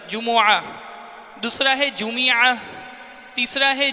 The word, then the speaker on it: جمعہ: جمعہ کا صحیح تلفظ ایک تو جمعہ ہے، جیم پر پیش میم پر پیش عین پر زبر جمعہ، دوسرا ہے جمعہ، تیسرا